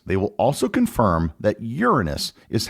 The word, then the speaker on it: Uranus: that the name of the seventh planet is Uranus likewise if you check various dictionaries and pronunciation guides they will also confirm that Uranus is how the planet is pronounced therefore for